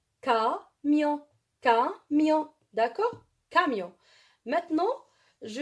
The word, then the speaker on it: camion: Je répète, C avec A, elle se prononce K. Elle se prononce K. Je veux donner un exemple. Camion. Camion. Camion. On dit en arabe camion. Alors, K, vous voyez K.